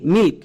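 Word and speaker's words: milk: এখানে কিন্তু এল এর উচ্চারণ হবে। তাই এল এর জন্য লো কে কে এর জন্য কো। তাহলে এই ওয়ার্ডের উচ্চারণ দাড়ালো এম আই এল কে মিল্ক।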